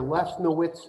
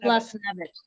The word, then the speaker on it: Lesnevich: Is that pronounced Lesnowitz? It's Lesnevich. Lesnevich. Lesnevich? Yes.